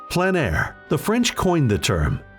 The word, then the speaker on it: plein air: of outdoor painting called plein air the french coined the term which means open air or outdoors the french pronounce it plein air others say plain air no matter how you